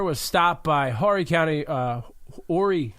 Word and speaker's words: Horry: The mayor of Aner was stopped by Horry County, Horry, I believe it's pronounced Horry, I'm sorry, Horry County